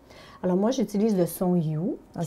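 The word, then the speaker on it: HU: Alors moi, j'utilise le son You, qui OK. s'écrit H-U, il se prononce You, jusqu'au bout du souffle.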